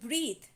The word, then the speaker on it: breathe: words are breath and breathe now see the difference here the pronunciation is not same breath and breathe when we put e in the end of breath it is known as breathe so meaning breath it